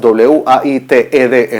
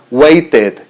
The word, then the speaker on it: waited: en su forma pasada, pero no lo podemos pronunciar waited, eso es una pronunciación incorrecta. La pronunciación correcta de este verbo sería waited, waited. Estamos haciendo un sonido de R para la T y ese sonido de la ED es como un it, waited.